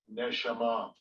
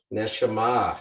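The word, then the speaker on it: נשמה: So if you go back to the tools and we can look down, so let's see how they pronounce this one. Strong's H 5397. Neshama. Neshama.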